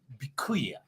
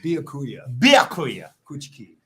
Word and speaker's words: Byakuya Kuchiki: I have Byakuya. Very close. You just left out one syllable. Byakuya Kuchiki.